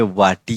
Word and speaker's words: वाटी: हिंदी में कहेंगे कटोरी, तो हम उसको मराठी में वाटी कहेंगे, VATI, इस तरीके से उसका उच्चारण होगा, VATI, वाटी।